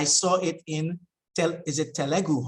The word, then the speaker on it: Telugu: So in the chat, you can maybe tell me about the story because I saw it in, is it Telugu? How do you pronounce the language? Telugu.